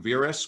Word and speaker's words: Verisk: Did I pronounce that right? Verisk?